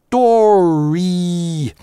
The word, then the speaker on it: story: Realistic story - только на /iː/ может закончиться слово. Напрягаем его, выговариваем. Story of - а дальше гласный, значит ee-ov, через linking [j] реализуем. Никакого story of, никакого /ɪ/ не может быть в конце слова в английском языке. В американском по крайней мере, в современном.